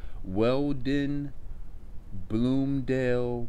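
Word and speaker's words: Weld-Blundell: of the Sumerian King's List is called the Weldon Bloomdale Prism. The Weldon Bloomdale Prism. I'll spell it.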